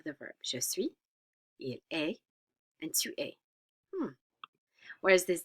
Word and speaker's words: est: Il, elle, or on est, we're not pronouncing the S or T.